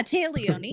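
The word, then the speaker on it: Téa Leoni: Taya Leone, is that how you say her name? Taya? Yeah, Taya Leone.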